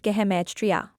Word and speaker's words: gematria: Hebrew has a special code called gematria, pronounced gematria.